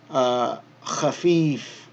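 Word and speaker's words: خفيف: Same construction here. Khafif, khafif. So we have the kha with the fatha, kha, fa with the kasra, elongated, khafi, and then fun.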